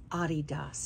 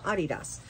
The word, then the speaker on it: Adidas: y um who um explained to me that it is Adias is how they say it in Germany so Adias um but anyway great